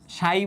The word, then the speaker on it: psi: এইটাকে বলতেছে হচ্ছে উচ্চারণ করতে হয় এরকম, সাই বলে উচ্চারণ করতে হয় আর কি, PSI, হ্যাঁ, উচ্চারণ করতে হয় এরকম PSI বা সাই নামে উচ্চারণ করতে হয় এটাকে।